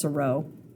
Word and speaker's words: Seurat: Seurat dot. I think it's pronounced Seurat.